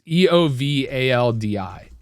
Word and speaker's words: Eovaldi: I don't know how to pronounce it. It's Eovaldi.